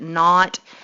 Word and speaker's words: naught: tons in naught and when they put that little 0 there you pronounce it not and it basically me